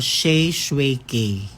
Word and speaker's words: Shae Shue K: tsaka ano mapaano ba sa name mo yung pagpronounce ng pangalan ko sh shuki hindi Sha Suzuki hindi mali yan kulang lang ahung yung may